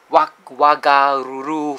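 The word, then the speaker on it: Whangaruru: a Maori language, and when you see the WH in front, it's pronounced as F. So Wagaruru, Whakatane, Whangare here, so it's a F.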